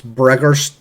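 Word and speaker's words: Bregor: up to your table he introduces himself it's bregger's stonehelm how do you spell it uh Burger is b-r-e-g-o-r and then stonehelm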